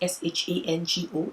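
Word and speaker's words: Ṣàngó: So technically, Shango is not spelled Shango, it's spelled Sango, but there's a mark, an indentation beneath the S to let you know that you pronounce it with a sh sound.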